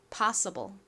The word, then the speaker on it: possible: 가장 앞부분인 파 부분에 강세가 있습니다. possible 좋습니다.